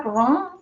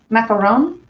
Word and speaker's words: macaron: i know i know when you're doing the ones with coconut it's macaroons but isn't it macaron macaron in french isn't that right it's more of an old because it's one oh macaron macaron macaroon macareni greeny